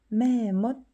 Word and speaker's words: แม่มด: 매못 발음은 이렇게 해요.